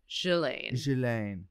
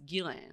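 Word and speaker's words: Ghislaine: yeah really yeah well it's a french name and it's like have you ever tried to pronounce unfox you know what's weird though is that okay french person i know pronounces it shillain and they're french and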